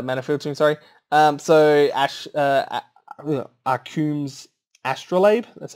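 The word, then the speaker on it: Arcum's Astrolabe: mana selection uh manufacturing sorry um so ash are coombs astrolabe that's how it's pronounced um i love this when this was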